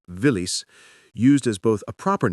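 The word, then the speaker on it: Виллис: Willies itself became a Russian word pronounced villis used as both a proper noun and a generic term for any small military vehicle.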